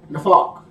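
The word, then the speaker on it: naphach: So when you look in Genesis, Bereshit 2:7 it said, when he breathed or exhaled, the Hebrew word for that is nafak. Nafak is spelled N-A-P-H-A-C-H. N-A-P-H-A-C-H. Nafak.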